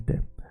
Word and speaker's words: det: mycket, you say mycket, you don't say det, you say det. Doesn't matter what other people told you. It's okay, we understand you. Keep saying it wrong. We love you because you exist. Sure, but the proper way is like this. Mycket, det.